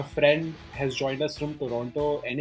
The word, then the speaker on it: Toronto: First of all, it's not Toronto, it's not Toronto, it's Toronto. And Toronto. I do not. You just have to gargle inside your mouth and you'll be able to pronounce it.